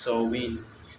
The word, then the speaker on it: Samhain: So this was Samhain, Gaelic word pronounced Samhain, is a pagan religious festival originating from an ancient Celtic spiritual tradition.